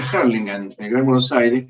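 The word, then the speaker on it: Hurlingham: yo vivía en la localidad de burlingham que se pronuncia harlingan en el gran Buenos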